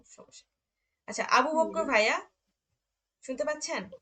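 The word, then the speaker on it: wie: উম, ই এ পাশাপাশি থাকলে হুম, আমাদের উচ্চারণ হবে ই। ওকে। যেমন ভি, ভি গেটস ডিয়ার।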